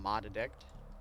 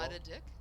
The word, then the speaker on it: Mod Addict: call him Mod Addict. I know, I'm horrible. Mod a dick? Mod Addict. That's why you shouldn't say it like that, honey.